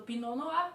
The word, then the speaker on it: Pinot Noir: Então, Pinot Noir, quem estiver falando Pinot Noir, está falando certinho.